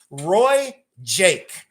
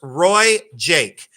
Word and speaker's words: RoieJaque: And these are it's pronounced Roy Jake, okay? It's pronounced Roy Jake.